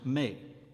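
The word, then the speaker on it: mes: Thus, E is open in French, mettre, to put, but close in the plural form of the possessive adjective my, pronounced mais.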